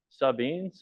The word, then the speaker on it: Sabin: 138002 happened on July 31st, 2024, near Sabine, how do you say that?